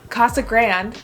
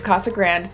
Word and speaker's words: Casa Grande: Casa Grande is Casa Grande, not Casa Grande. Now I've heard it both ways. I've heard Casa Grande and Casa Grande, but a lot of people say Casa Grande because we're white.